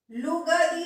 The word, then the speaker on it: लुगदी: लुग ग दी, लुगदी नहीं, लुगदी, लुगदी, लुग दी, लुग दी। तो ल पे छोटे उ की मात्रा आधा ग जो है वो एक साथ उच्चारित होगा, लुग दी।